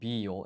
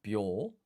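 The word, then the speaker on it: びょ: So this is not Bi-yo, it's a blended syllable, Byo.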